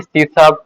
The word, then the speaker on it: C#: अगर हम देखें तो इसे लिखते हैं सी हैश, और लेकिन अगर प्रोनाउंस करना है इंग्लिश में तो हम इसे लिखेंगे सी शार्प, जैसे कि यहाँ पे लिखा हुआ है।